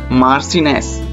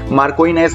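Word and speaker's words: marchioness: E double S, मार्सिनेस, मार्कोइनेस नहीं, मार्सिनेस, ठीक है।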